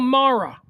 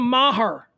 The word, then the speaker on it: Maher: about Ilona M ilon Mara Ilona Mahar Bill Maher it's spelled the same way as Bill Mah Ilana Mar it's a